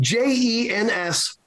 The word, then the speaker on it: Jens: seat up the ends this is jens spelled j-e-n-s pronounced jens and he and he